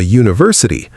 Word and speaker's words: university: A cat, a university, a European country. Notice that university and European start with vowel letters, but the sound at the beginning is a consonant sound. University sounds like it starts with Y.